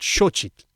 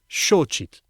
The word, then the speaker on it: xōchitl: The word for flower is xochitl. Vowels can be long, too. A, E, I, O. A flower isn't just xochitl, it's xochitl.